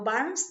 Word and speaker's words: Barnes: De hecho, notas sobre la Biblia de Albert Barnes o Barnes, ahí es como se pronunciaría por ser en inglés, es el nuevo comentario bíblico que agregué a los que ya he estado consultando anteriormente.